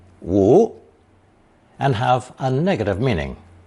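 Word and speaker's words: 无: the simplified character again both versions are pronounced second tone woo and have a negative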